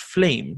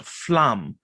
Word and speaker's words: flame: For instance, flame is pronounced flame, not flamme or flamme.